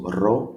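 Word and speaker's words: ρο: The next one is our R, that looks like P. R, so ro, we call it ro, big, ro, small, so uppercase, lowercase. Ro always sounds like R in right, for example.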